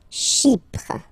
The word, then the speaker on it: Chypre: Chypre. So remember, we've got this Y letter here, but then phonetically when you pronounce it, it's like I, okay?